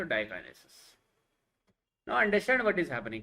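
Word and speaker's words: diakinesis: Pachytene, ज़ाइगोटीन, leptotene, diplotene, और इसका थोड़ा प्रोनाउंसिएशन अलग है तो डाइकाइनेसिस.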